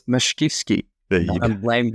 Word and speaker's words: Mashkivskyy: It's Mashkivskyy.